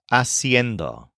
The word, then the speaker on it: haciendo: the jarand this is a pretty tricky word aend spelled h a c i n d o kind of like cendo but with an extra syllable aend we can use this